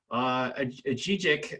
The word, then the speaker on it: Ajijic: Now lives in Ajijic, if I'm pronouncing that right.